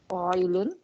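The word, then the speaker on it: قائل: Qailun. Loon. That is, how do we spell it?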